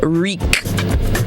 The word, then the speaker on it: wreak: word for the day the word for the day is reek reek and we're not spelling it with an r it starts with a w it's spelled w r e a k reek now reek